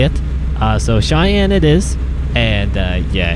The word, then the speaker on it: Cheyenne: to pronounce i always i called it cheney initially but it's cheyenne uh when wyoming dlc